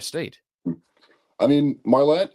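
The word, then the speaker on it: Marlette: Michigan because you actually said you're from uh Market. Am I right in saying is that how you pronounce it? Market Marlet. Marlet. All right. We've already screwed up twice in this interview. Marlet, Michigan.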